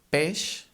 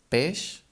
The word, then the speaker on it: peix: When we have these two letters together, be it at the end or in the middle of a word, it becomes a sh sound, like in she, for example.